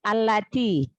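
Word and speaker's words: الَّتِي: Lalu di ayat ke-8 tadi Ukhti Nana membaca alladzi yang sahih allati.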